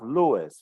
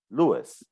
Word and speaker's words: Lewis: remember the pronunciation of Lewis right it's like Louise but we stress and Luke Lewis Lewis yeah and about Levi's